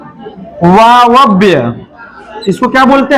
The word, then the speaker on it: वायव्य: उच्चारण भी बोलने आना चाहिए, वायव्य, वायव्य।